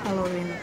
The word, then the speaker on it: Хэллоуин: В Америке принято праздновать Хэллоуин, делается ударение на последний слог.